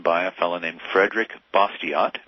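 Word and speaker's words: Bastiat: a fellow named Frederick bosot B- a s t a t I think it's pronounced bason French but that doesn't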